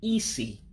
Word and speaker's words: isi: And listen closely to the way that I'm saying Isi. Remember that Igbo is a tone language. So that means the way you say things gives it a different meaning. So when you want to pronounce the word easy, you want to pronounce it as high as you can.